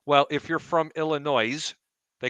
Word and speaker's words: Illinois: Is it or is it not like nails on a chalkboard when people try to say Illinois and they enunciate the S at the end? Illinois.